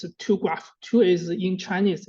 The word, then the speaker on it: TuGraph: We we uh we pronounce it's a two graph.